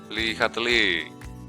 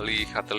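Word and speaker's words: Le Chatelier: persi-p kesetimbangan ada dari ilmuan Prancis lihatli bacanya lihatel Ya jadi apabila ada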